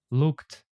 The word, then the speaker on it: looked: You see, it's better to try to pronounce them like t or d. Booked, arrived, played, looked, cooked, and so on. So we don't say like cook it, play it, arrive it. It sounds really strange actually.